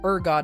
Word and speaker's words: Urgot: You do I I I hope you know that it is pronounced urgot and not.